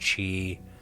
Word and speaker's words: Qi: them this is using the qi or it's pronounced chi uh wireless uh communications to actually perform the